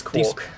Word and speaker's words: Quark: I don't know how you pronounce him because I've been watching... It's Quark.